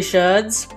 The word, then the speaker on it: sherd: Back over here, using these pottery sherds, that they are the technical word for them is sherd, so I am pronouncing that right, not an accident.